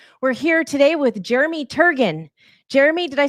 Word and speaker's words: Turgeon: I didn't know if it was a hard or a soft G. Close to a soft G. It's like surgeon. says Turjan. Y very good.